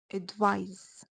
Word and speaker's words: advise: The noun advice ends with a soft S sound, so it's pronounced advice, while the verb ends with a Z sound and it's pronounced advise.